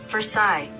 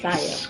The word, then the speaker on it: Versailles: Versailles.